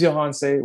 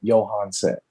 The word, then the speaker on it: Johanse: My name's Johanse. Rhymes with Beyonce, starts with a Y. Johanse.